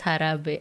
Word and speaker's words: jarabe: Jarabe is pronounced as harabe.